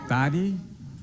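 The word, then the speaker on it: Dhati: Gonna Roll that video okay my name is Daddy or majorly white that is spelled D as in David h-a-t-i k-e-n-n-e-d-y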